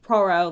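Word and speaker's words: Pierrot: to just pronounce it I'm pretty sure it's pronounced proo like you know the clown so you know they've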